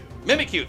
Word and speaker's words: Mimikyu: Mimiku, I think I pronounced that right. Mimikyu. Mimikyu. Like I thank you.